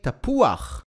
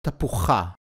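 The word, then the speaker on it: תפוח: We say tapuach and not tapucha. So here is a very important rule to remember when reading Hebrew. The letter chet, when it appears at the end of a word, together with the vowel patach, does not sound as cha, but rather as ach.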